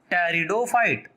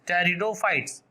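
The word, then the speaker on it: Pteridophyte: algae comma ब्रायोफाइट्स तथा टेरिडोफाइट, PTE, P silent रहता है इसमें, टेरिडो, PTERI रिडो, DO fight, PHYTES टेरिडोफाइट्स, algae, ब्रायोफाइट्स एंड टेरिडोफाइट्स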